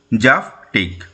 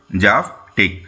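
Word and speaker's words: zaftig: জেড এফ টি আই জি কি উচ্চারণ হবে জাফটিক কি উচ্চারণ জাফটিক জেড এ এইচ এফ টি আই G someone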